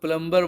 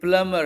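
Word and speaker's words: plumber: रहता है ठीक है जैसे एक वर्ड होता है पी एल यू एम बी आई आर बहुत से लोग इसको प्लंबर बोलते हैं रोंग प्रनंसीएशन हैं ये प्लंबर है 20 साइलेंट होता है ऐसे क्लाइंब ये रोंग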